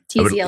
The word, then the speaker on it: Tzield: Yep, Tzield.